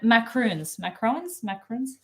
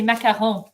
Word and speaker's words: macarons: Macaroons. Des macarons. That's how you say it in French.